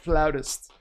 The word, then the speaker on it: flautist: It's pronounced flautist.